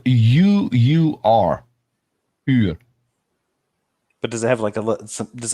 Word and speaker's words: uur: Uur. What's uur?